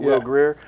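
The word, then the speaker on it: Will Grier: I'd say something else that stood out for me, West Virginia's quarterback, is that Will Greer, pronounce it Will Greer, over 400 yards.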